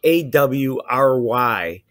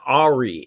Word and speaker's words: awry: When I read the word spelled A-W-R-Y, I pronounce it Ari in my head. Instead of awry?